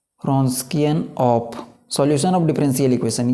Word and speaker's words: Wronskian: note करेंगे find the रस्किन ऑफ डब्लू यहां पर साइलेंट है ओके सो यहां पर